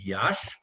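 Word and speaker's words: Iași: burlap before they left romania they lived in yash and he's and actually that's actually where they were married and josh is spelled i-a-s-s-i and he said yeah that's where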